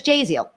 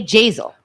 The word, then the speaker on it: Jaziel: When he was talking about a story about somebody coming up to him, he said his name was Jaziel. He didn't say Jazel.